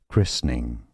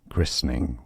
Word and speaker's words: christening: on the first syllable some may skip the midle uh syllable and say christening christening or so that would be more American English pronunciation christening or christening christening